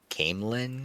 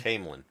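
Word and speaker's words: Caemlyn: Um, so eventually, uh, all the characters come to, am I pronouncing this right, Shan? Camlin. Camlin. Yes. Camelin.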